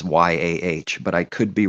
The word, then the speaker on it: יה: If there's a dot at the end of this letter specifically,